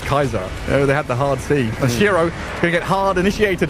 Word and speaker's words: Caesar: It wasn't Caesar, it was Kaiser.